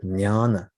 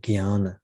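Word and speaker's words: jnana: to the path of nyana nyana which is spelled j n-a-n-a sometimes people pronounce it Gyan which is an alternative pronunciation Gian or Nyan nyana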